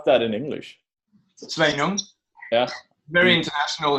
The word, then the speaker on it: Sveinung: How do you pronounce that in English? Sveinung.